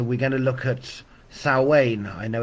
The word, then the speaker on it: Samhain: year and so we're going to look at sa Wayne I know it's spelled Sam ha but it's pronounced sa Wayne depending on where you're from hello Caroline and